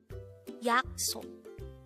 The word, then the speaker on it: 약속: YAKSOK. YAKSOK. This is pronounced as a two-syllable word. The first syllable is yak, the second syllable is sok.